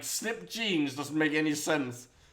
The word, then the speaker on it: SNP: Also, just because it's pronounced snip doesn't mean that you are that you write it out as that.